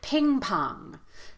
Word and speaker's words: ping pong: the word ping pong we're going to give equal stress to both syllables here so we're not going to feel that strong and weak ping pong ping pong both vowels